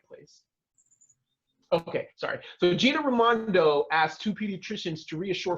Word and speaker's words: Raimondo: have, which is called Raimondo's Requests. I don't know how to say her damn name right. Raimondo. Raimondo. Yeah. Raimondo. Like Ray, like my cousin Ray, like that, yeah.